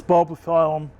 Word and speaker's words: Bulbophyllum: This is Bulbophyllum, excuse me, is the correct pronunciation.